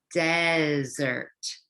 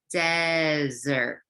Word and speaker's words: desert: say it together dessert and how do we pronounce this word with only one s desert okay say with me readers desert so what is the difference between these two